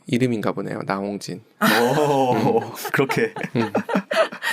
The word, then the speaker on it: 나홍진: 나홍진. 그렇게. 나 혼진 아니고 나 홍진이거든요.